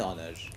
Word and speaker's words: honor: university a european ok an honor because here the sound is vowel sound so these are the